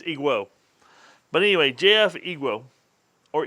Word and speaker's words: EGWO: on their videos and it's ego i think the w is silent if it's not it's iguo but anyway jf iguo